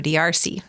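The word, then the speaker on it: D'Arce: great his name's joe diarcy but dars is a mispronunciation of his name of a choke that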